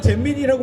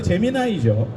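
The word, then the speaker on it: Gemini: 예, 처음에는 제미니라고 많이 불렀어요. 근데 제미나이죠. 예, 그 다음 클로드예요.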